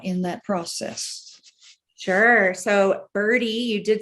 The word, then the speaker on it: BIRDe: It's just like birdie, like a little birdie, except it's missing the I. So it's just bird and then little e, and the little e is for electric.